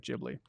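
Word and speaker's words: Ghibli: Stephen says PS uh studio gibli is pronounced as soft G sounding like jibli I'll be damned I'm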